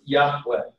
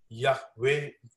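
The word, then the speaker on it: Yahweh: पाक नाम है and originally it was pronounced याहवे और इसको हम जो है ओरिजिनली याहवे प्रोनाउंस करते हैं बट the tradition arrows early in Judaism to not pronounce the name.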